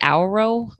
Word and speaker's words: Auro: Auro.